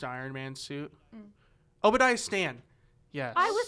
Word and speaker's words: Stane: Obadiah Stane. Yes. I was saying. It's fine. I thought you were saying Stain. It's spelled Stane.